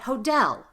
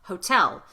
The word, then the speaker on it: hotel: Another example, you would know if it sounded weird if I said hodel instead of hotel. Same example, T's at the beginning of the strongest syllable, hotel.